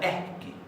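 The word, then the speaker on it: ekki: Se pronuncia eski.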